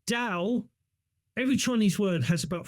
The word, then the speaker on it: Tao: call it to because it's spelled two different ways uh Tao or Dao uh because uh there's a silent in it uh but Dow every Chinese word has